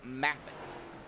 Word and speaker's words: Moffat: His last name is actually pronounced Maffett.